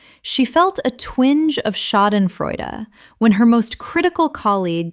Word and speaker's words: Schadenfreude: Schadenfreude. Common mispronunciation. Schadenfreud. Correct pronunciation. Schadenfreude. Four syllables. The sh makes a sh sound and the final syllable is a, not silent. Example. She felt a twinge of schadenfreude when her most critical